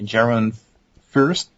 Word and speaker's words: Jeroen Furst: can follow me on Twitter it's hard to pronounce my name and for you to write it down but it's basically Geron first so that's j e r o e n